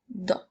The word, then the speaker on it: dans: une et ensuite le mot dans n'oublie pas qu'il y a une lettre muette à la fin maintenant nous avons le